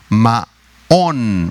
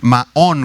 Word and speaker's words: Maón: Es la palabra hebrea Maón, Maón, con acento en la A, M-A-O-N, Maón.